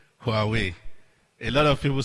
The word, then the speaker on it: Huawei: so it's hard way so we will say who are we who are we then i can say we